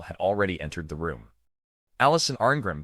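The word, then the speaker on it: Alison Arngrim: Allison Argrim, pronounced Alish son, A R Grim, was born on January 18th, 1962 in New York City.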